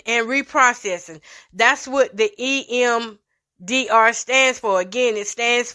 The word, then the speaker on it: EMDR: So I had to go and Google, what is EDMR? Y'all, let me Google it now. And prayerfully, we don't go off. Okay. So EDMR, what does EMDR, my bad, I've been saying it wrong.